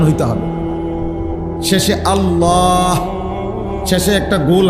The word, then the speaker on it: আল্লাহ: হা পুরো স্পষ্ট বিশুদ্ধ উচ্চারণ হইতে হবে। শেষে আল্লাহ, শেষে একটা গোল হা আছে, ছোট হা।